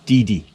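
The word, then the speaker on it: Deady: D-E-A-D-Y, but it's pronounced Didi.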